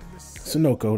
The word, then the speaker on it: Sunoco: we pulling up on Sono or sonoko Sono anyway sonoko that's how it's supposed to be pronounced and we're going to